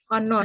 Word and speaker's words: honor: Iya benar pakai unit kalau ini Hor honor tulisannya artinya apa Eh pakai n ya karena soundnya itu lebih pas dibaca h-nya itu kan enggak dibaca an Iya jadi sound-nya itu